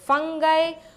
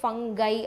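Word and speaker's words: fungi: So next it includes bacteria, cyanobacteria, நம்மளோட ஃபங்கை, Moses. And இது நிறைய பேர் ஃபங்கி அப்படின்னு ப்ரொனவுன்ஸ் பண்ணுவாங்க, சில பேர் ஃபங்கை அப்படின்னு ப்ரொனவுன்ஸ் பண்ணுவாங்க. I prefer ஃபங்கை.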